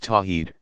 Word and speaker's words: Tawhid: affirming God's absolute oneness is called Tawhid pronounced tawheed second Muslims attest that